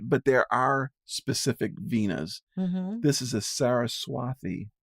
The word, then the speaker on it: Veena: It's just like instead of like Veena. a vino, like a vino lotion, but just Veena. But there are specific Veenas.